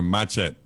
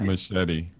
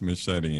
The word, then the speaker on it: machete: I pronounce that word or matchet ma that's machete Mach that's machete and um like St Thomas St Croy they say machette I feel like a